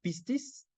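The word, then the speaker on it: πίστις: Del griego pistis, con acento en la primera I, significa fidelidad, fiel, credibilidad,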